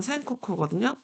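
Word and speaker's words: 戦国: 일명 그 전국을 일본 발음으로 하면 센코쿠거든요.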